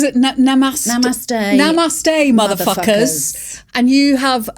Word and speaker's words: Namaste: How do we pronounce it? Namaste.